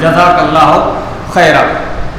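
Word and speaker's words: جزاك الله خيرا: تو خیرا یہ صحیح تلفظ ہے، یہ صحیح تلفظ ہے، جزاک اللہ خیرا.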